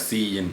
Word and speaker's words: cin: The first operand is the predefined identifier cin, pronounced as cin, sin படிக்கூடாது.